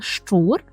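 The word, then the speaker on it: szczur: цілей Ідемо до слова шур і польською це звучить так само пимавями чур чур щр і Зверніть увагу що українська буква шч яка одна є так польською передається чотирма буквами сзц з шч чур наступне слово - це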